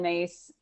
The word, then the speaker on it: Myss: wants to know more about soul contracts carolyn mace that's spelled myss she's got an amazing book on